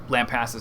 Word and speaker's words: Lampasas: hour outside of Austin Lampasas spelled like lamp la MP ASAS Lampasas and the goal of